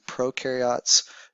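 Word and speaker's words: prokaryote: you think about it U rhymes with do and pro rhymes with no so the ones on the left here the pro carots uh they do not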